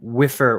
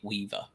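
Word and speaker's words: Wieffer: weer wiffer um Swiffer from what I can understand uh from one of the interviews it's literally Weaver like that's it like the fs are pronounced like a V okay all right weav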